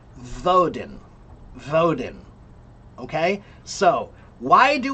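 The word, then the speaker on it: Woden: And they pronounced it voden.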